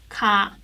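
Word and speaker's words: 가: but ka is like you just pronounce it smoothly ka and do you know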